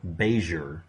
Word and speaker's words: Payseur: simple 1785 to 1860 daniel pesuer or beiger which was the original pronunciation uh existed and he